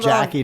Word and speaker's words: Jacque: She spells a long- Jackie different. Yeah. Than what a lot of Nobody people can do.